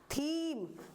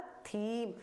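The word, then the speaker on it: theme: मैंने क्या बताया था जिस भी वर्ड में लास्ट में ई आए तो वो ई साइलेंट होना ही होना है और जो पहला लेटर पहला वाउल जो होगा उससे पहले का वाउल उसको हम लॉन्ग प्रेस करेंगे ठीक है जैसे इसको हम क्या पढ़ेंगे थीम तो इसकी हमने स्पेलिंग पढ़ी इसकी पढ़ी ई की नहीं पढ़ी तो इसको हमने क्या बोला थीम तो आई होप आज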